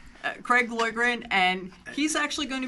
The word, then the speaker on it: Loydgren: now Boyd Ren is my name Craig boy grant and he's actually going to be doing I